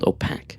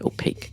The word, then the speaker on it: opaque: thank you for that now I understand opaque not OPAC opaque cheers like cake now I get what Dave